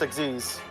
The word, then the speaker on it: Xyz: mean like yeah xyz monster there it's it's pronounced exes x y x y z monster is what